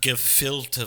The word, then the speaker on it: gefilte: I go to Israel so it's pronounced give Phil two fish yeah let me try